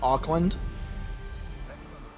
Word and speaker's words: Auckland: you could ever visit Oakland facts but not Auckland uh am I pronouncing that correctly Auckland yeah okay cool I've always wanted to visit